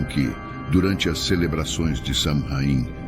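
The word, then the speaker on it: Samhain: 2000 anos de idade conhecida como samhaim pronuncia suin realizada por povos da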